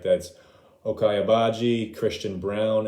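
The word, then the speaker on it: Braun: a game all right that's okay ibaji christian brown it's spelled brawn but they pronounce it brown dejuan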